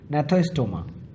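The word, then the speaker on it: Gnathostoma: एग्नाथा और नैथोस्टोमा। नैथा का मतलब होता है, ये जी की साइलेंट है, नैथा का मतलब होता है जॉ, और का मतलब हुआ नहीं है।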